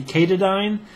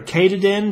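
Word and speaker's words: Katadyn: berky water filter then the company kadine or Kaden depending on how you pronounce it makes a great water filter k a t a d YN search for it the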